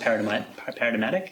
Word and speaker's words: paradigmatic: always been that, almost paradigmatic. Is that a word? Paradigmatic? Paradigmatic. Is there a G in the... Obviously, when you spell it, I thought it was silent. It is when you say paradigmatic.